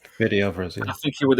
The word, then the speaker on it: Fede Alvarez: And the guy who directed it, Fed Alvarez, if I'm pronouncing his name right. Fede Alvarez, yeah.